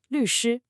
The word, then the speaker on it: 律师: The first syllable, 律, is a fourth tone. That's that sharp falling sound, 律. Then the second syllable, 师, is the first tone we just practiced, high and flat. So it's a drop, then flat.